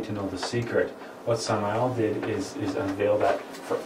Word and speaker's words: Samael: If you're curious what the name means, it's Hebrew in origin, and that's how you pronounce it, Samael on Veor.